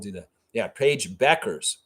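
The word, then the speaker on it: Bueckers: do that yeah Paige Beckers Beckers that's how you pronounce her name just like the old convenience store Beckers okay it's not Bookers all right I didn't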